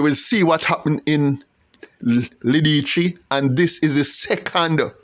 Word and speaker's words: Lidice: Now, Lidice is a Serbo-Croat word, but it's pronounced it's spelled L-I-D-I-C-E. L-I-D-I-C-E. Look it up. Lidice.